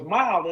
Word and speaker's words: MYLE: We talk about MYLE and the way it's pronounced MYLE, like when you drive, but it's with a Y instead of an I because it's all about you.